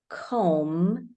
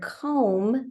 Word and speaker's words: comb: an m in the word comb we spell m with an MB and then in the